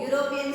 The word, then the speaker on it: European: Because even though it is starting with U, which sound is used here? U, European sound.